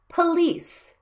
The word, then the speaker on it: police: screen the first one police the second vowel is a stress syllable so you need to pronounce the first vowel quickly and silently police not police children